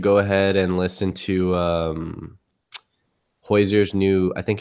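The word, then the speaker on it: Hozier: Is it Hoyser or Hosier? I say Hoyser. It almost sounds like you're gonna like burp up some like Hoyser. Well, how do you pronounce it? I say Hosier.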